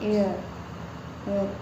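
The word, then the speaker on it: heir: ठीक है, एक कई बार होता है कि आपका कई जो ऐसे वर्ड होते हैं जिसमें जो एच होता है वो साइलेंट होता है, जैसे आर एंड एयर।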